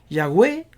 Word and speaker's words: Yahweh: No obstante, los eruditos, teólogos y autoridades de las Escrituras concuerdan que la pronunciación más cercana está en, y siempre siguen debatiendo en estas que son similares, Yahweh, Yahvé y Jehová, que estas son las más acertadas.